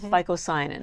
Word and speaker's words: phycocyanin: It has the chlorophyll, like the chlorella, but it has another pigment which is blue called phycocyanin, which is spelled with a P-H-Y, P-H-Y-C-O-C-I-N-N.